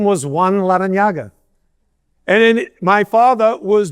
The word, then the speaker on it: Larrañaga: I say my name is Jim Larranaga. That's not right. My grandfather was born and raised in Havana, Cuba. His name was Juan Larranaga.